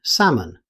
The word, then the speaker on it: salmon: Although it's spelled with an L, you'll never hear it. Native speakers simply say salmon.